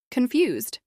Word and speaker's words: confused: Confused. This is pronounced with stress on the second syllable.